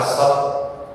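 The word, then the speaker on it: ص: Biasanya ketika sampai pada pengucapan shad biasanya bertukar sama sin.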